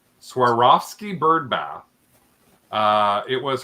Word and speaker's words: Swarovski: this uh SW I never say it right Swarovski bird bath uh it was her mom's and